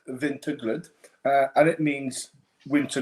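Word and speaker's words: Vinterglöd: Uh so that's how it's pronounced, vintaglood.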